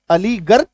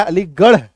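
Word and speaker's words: Aligarh: आर एच है ना आर है यहां पे अलीगर गर होना चाहिए अलीगर अगर हम लोग शब्दों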